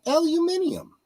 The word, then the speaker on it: aluminium: also spell it differently and that's uh aluminium they say as many uh syllables as they write into it so we actually changed